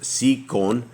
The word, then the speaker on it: Sihon: And Sihon, how does we say this here? It is Sihon.